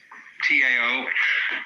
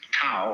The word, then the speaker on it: Tao: We should have spelled it D-O-W, you see, but it's T-A-O.